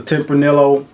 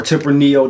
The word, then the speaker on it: Tempranillo: Like I said, this is a Tempranillo or Tempranillo, depends on how you do the double L sound. Most times I've heard it Tempranillo, but I have heard it pronounced Tempranillo.